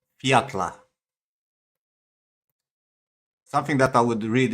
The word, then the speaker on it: Fjalla: So they spell it Fjalla, and he says Fiatla.